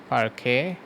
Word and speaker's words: parquet: তারপরে আরেকটা ফরম্যাট আছে parquet, এটার উচ্চারণটা হচ্ছে শেষে টি-টা সাইলেন্ট, parquet।